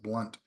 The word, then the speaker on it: Blount: Blount is is pronounced blunt um so sorry about it it's got extra letters in it uh if it's supposed to be pronounced blunt they should really remove the O okay let's continue on